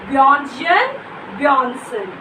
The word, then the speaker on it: Bjørnstjerne Bjørnson: How will you pronounce the name of the poet? Bjørnstjerne Bjørnson.